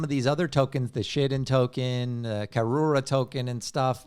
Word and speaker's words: Shiden: We had Soto on, and he pronounced it Shiden. I know. How am I not supposed to pronounce it like the founder? You're pronouncing it correctly. I'm just saying. Shiden sounds like shit in.